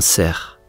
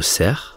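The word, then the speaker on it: cerf: le passage du Grand ser à la fin du mot ser il y a un f mais on ne le prononce pas comme souvent en français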